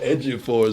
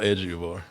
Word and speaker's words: Ejiofor: This is a Chiwetel Ejiofor's version of that, and I listened to it yesterday.